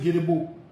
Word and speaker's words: Gedipo: If you really want to pronounce his name, you will pronounce it Gedipo.